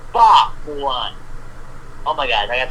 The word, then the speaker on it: Fa Mulan: And number two, hello, her name is Fa Mulan, not Hua Mulan. That is a wonder if I saw that they changed her name. Yeah. Oh my god, really? It's Fa Mulan.